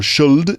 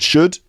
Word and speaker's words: should: in them but it's not could would or should it's could would should and folk like folk music f o l